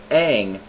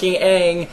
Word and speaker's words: Aang: entirety of the show the character's name is pronounced Aang then guess what it's Aang because they made it up and that's how